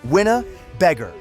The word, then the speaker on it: Winnebago: They name him Winnebago, pronounced Winna-Beggar.